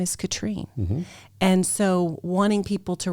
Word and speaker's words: Catherine: what that is is it is american spelled and french pronounced see i was named